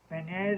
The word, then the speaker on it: beignets: Right, the beignets? Beignets, is that how they're pronounced? It's not how it's spelled.